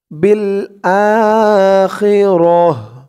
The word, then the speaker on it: بالآخرة: হায়াতাদ্দুনিয়া, বা দিয়ে লাম ধরবে, বিল আখিরাহ, বিল আখিরাহ।